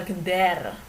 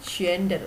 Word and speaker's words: gender: keberagaman jenis kelamin atau ini bacanya bukan geder atuh ntar Hai Ini bajunya bukan Finder tapi gender Hai gender itu adalah